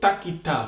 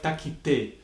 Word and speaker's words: takita: Okay, so takita. So try to keep that character. Takita, takita. At least in the first stages of your Konnakol practice. When you get a little faster, takita, takita, takita, takita, takita, takita, ta, you will notice that the syllables will change their sound a little bit, and they will sound more like takite.